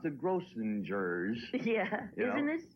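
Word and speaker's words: Grossinger's: the only one out of the four who pronounced the gross singers yeah isn't this it's gross singers do I know for the hard G gross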